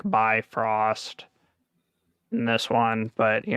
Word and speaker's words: Bifrost: because they call it it's not called biv ross it's like bifrost and this one but